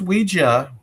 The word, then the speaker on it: Ouija: It's It's pronounced Ouija, right? It's Ouija, but Ouija, but when it came out, it had a patent which lasted for 16 years.